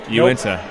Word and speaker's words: Uinta: When I walked past the table, I was like, "Oh, Unita's here," and then I realized, "Whoops, nope." Uinta. Yes, I Uinta. Like you into that.